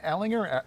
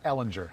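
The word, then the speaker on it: Ehlinger: school texas yeah sam ellinger ellenger allenger ellen yes right i've heard bo i you know i hope i'm right i think i'm right i would say the hard g or j sound too yeah i think i'm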